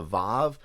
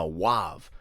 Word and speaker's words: vav: The last character was what's called a vav. Now they used to pronounce it a wav, so it could either be lakah or lakaw or something like that.